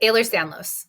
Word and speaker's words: Ehlers-Danlos: So Ehlers-Danlos, pronounce it again. Yep. Ehlers-Danlos.